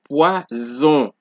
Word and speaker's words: poison: As you can see, I have the vowels highlighted in blue and the S highlighted in red to show you that the S is between two vowels. So that's why you are getting that Z sound.